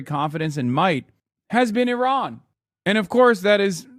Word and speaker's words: Iran: In Turkey, we say Iran. Iran. Iran is closer to how you say it.